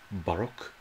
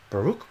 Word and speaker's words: Baroque: Listening to Baruch, like that of Bach and Vivaldi, has been shown to improve focus. Does it? How do you pronounce that? Baroque music.